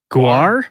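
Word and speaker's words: GWAR: Is is it gore? Is that how you pronounce it? Gw. Gore. I think it's gore, right? Guar.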